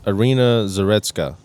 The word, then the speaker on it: Iryna Zarutska: Iryna Zarutska.